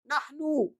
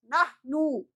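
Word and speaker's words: نحن: अना, जल्दी से इसको बोलना है, अना, नहनु, अना, नहनु, अना, नहनु, नहनु। कैसे पढ़ेंगे, नहनु, नहनो नहीं, नहनो नहीं, नहनु, नहनु। ऊ की आवाज निकालेंगे, ऊ की, नहनु, वी, हम लोग, अना,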